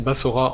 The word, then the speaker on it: Basra: Et attention ici, il ne faut pas la confondre avec la ville irakienne de Al-Basra, qu'on prononce Bassora en français.